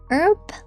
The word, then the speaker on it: herb: Herb? Welcome, Tynan. Herb. I think it's obvious enough, but I say herb as in hard H.